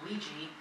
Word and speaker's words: Ouija: actually from the beginning the preferred pronunciation was ouija and there was even a patent for that term as well w-e-e-j-a ouija to protect the sound of the name but the actual origin